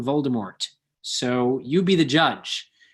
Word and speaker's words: Voldemort: of the other uh the author insists that it is pronounced with a that the t is not pronounced and that it should be said as voldemort however she herself has